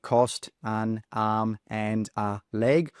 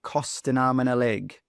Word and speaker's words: cost an arm and a leg: Now, when it comes to the pronunciation of this idiom, we don't say cost an arm and a leg. All of the sounds come together. So we say cost an arm and a leg.